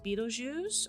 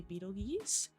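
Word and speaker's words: Betelgeuse: really bright orange star that is Beetlejuice or Beetlejuice some people some people say Beetle geese uh as many pronunciations or common pronunciations I know of we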